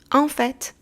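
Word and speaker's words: en fait: یا اکچلی در انگلیسی توجه کنین که اینجا تی انتها رو تلفظ میکنیم آفت اف بف یعنی بیرون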